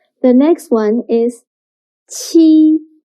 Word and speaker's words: 七: 七 sounds similar to the first sound of cheap. But when pronouncing 七, your tongue should be more flat. And also, you need to stretch your mouth to two sides. 七.